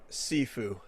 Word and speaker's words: Sifu: this is but it's is it sifu or saifu sifu is how they pronounce it i can remember